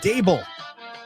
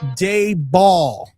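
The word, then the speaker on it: Daboll: It's Dable, not Dayball.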